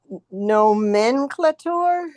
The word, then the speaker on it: nomenclator: Only it would be nomenclator. I mean, how would you pronounce that? Okay. It's four So syllables. the A is long.